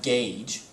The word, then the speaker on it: gauge: i'll explain each one you have gauge where you have the hard g and it kind of has that silent u though but i'm not we're not really sure why it has that silent u gauge this should be a soft g this should be a hard g and the u is just kind of there language is interesting because